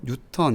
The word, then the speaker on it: 뉴턴: 삼각형 법으로 여러분들이 배웠습니다 힘의 단위는 애니라고 쓰고 뉴톤 일하고 있습니다 애니 라고 쓰고 애니라고 읽으면 안 됩니다 애니 라고 쓰고 뉴턴 일하고 있습니다 힘을 뉴턴 운동 법칙을